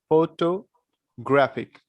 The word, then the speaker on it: photographic: called the photo graphic how you can pronounce it you have to speak this part here to here slowly photo and when you are going to speak this part graphic you need to be a bit louder photographic all right how would